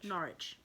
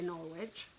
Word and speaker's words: Norwich: know they're in canada maybe they pronounce it norwich i know in america they say norwich um but if you're in england it's not rich yeah um so that